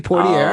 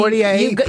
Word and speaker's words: Poitier: Sidney Poitier. Oh, yeah, Sidney. Poitier. You nailed it. Poitier? Poitier. No one can say it. Do you know what movie it is? Harrison, you know? Poitier.